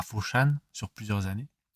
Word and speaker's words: Foshan: Donc l'histoire, ça se concentre sur Ip Man, n'est-ce pas, à Foshan, sur plusieurs années. À Foshan ou Fatsan. Fatsan. Si on le prononce à la cantonaise. Fatsan, pardon.